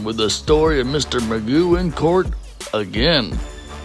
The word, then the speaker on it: Magoo: You said your last name is pronounced Magoo.